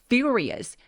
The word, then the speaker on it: furious: 그래서 his mother is furious. furious 강세 빡세게 주세요. furious and throws the beans. throw 할 때 thr을 한꺼번에 발음한다고 생각해 주세요.